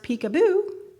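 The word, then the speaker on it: Picabo: name of peekabo Street peekaboo pronounced peekaboo she is or was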